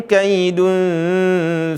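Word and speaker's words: كيد: Perhatikan di sini maksudnya bagaimana? Bukan kai, tapi pakai i. Fa in kana lakum kaidu, bukan kai. Banyak teman-teman bacanya kaidu, bukan kai. Kai ya. Huruf kaf perhatikan.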